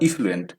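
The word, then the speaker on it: effluent: बस ए और ई का फर्क है, एफ्लुएंट और इफ्लुएंट।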